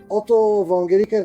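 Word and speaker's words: Otto von Guericke: Around the year 1663, Otto Vonger, that's how you accurately pronounce it, built a remarkable device consisting of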